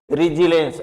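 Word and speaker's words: resilience: है रेस्पॉन्स, जबकि यहाँ आर ई से क्या आ रही है, ई की ध्वनि आ रही है। ध्यान दे, क्योंकि आगे जो एस आई या फिर से वोवेल आ गया है कॉन्सोनेंट के बाद में, तो इसकी भी लॉन्ग साउंड आ रही है, तो रिजिलेंस, तो एस से जे की ध्वनि आ रही है यहाँ पर, ध्यान दे, तो रिजिलेंस।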